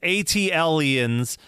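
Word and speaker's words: ATLiens: He said, this is beside the point, but I also heard you sort of hand wave out Outkast's Atlanteans, pronounced ATLians for future reference.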